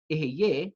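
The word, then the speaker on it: Ehyeh: And therefore, I've pronounced it as Ekiye instead of Eheye, which is actually the correct pronunciation, because this is actually one of God's names.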